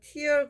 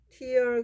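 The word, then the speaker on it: tear: 근데 목회하면 얼마예요 이건 티얼 그러면 눈물이고 티얼 그러면은 눈물 또는 눈물을 흘리다 그리고 헤어 이렇게 발음하면 찢다 이런 뜻이에요 찢어서 조각조각 내자 and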